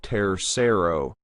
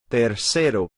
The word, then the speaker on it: tercero: When we pronounce tercero and primero, pay attention to the R. It's not primero, tercero. That's again an English accent pronunciation of the R. We want to flap the R. Primero, tercero.